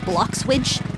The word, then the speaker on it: Bloxwidge: I bet you didn't know that this town was called Bloxwidge. Kind of rhymes with sandwich.